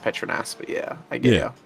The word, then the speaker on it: Petronas: Well, Patronus is supposed to be pronounced Petronas, but yeah, I get it.